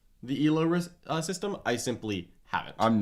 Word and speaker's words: Elo: the discussion about that it's pronounced elo not elo we did and then